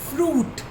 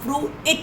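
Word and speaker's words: fruit: F-R-U-I-T, फ्रूट. इसको हम फ्रूइट नहीं बोलते, क्योंकि आई ने अपनी पावर यू को दे दी है और यू बन गया है लॉन्ग साउंड और आई हो गया है साइलेंट.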